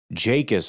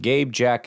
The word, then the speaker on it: Jacas: Boy, you could say that name wrong. Jacus, I think is how you say his name. Gabe. Jacus. I almost just like off the cuff was like Gabe Jack.